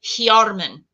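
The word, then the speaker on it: Hyarmen: So this is the Tengwar for south, and you pronounce it Hjarmen. So this is for south. We're going to intone that now. Hjarmen.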